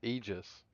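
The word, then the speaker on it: Aegis: It's spelled like this, which is pronounced Eegis.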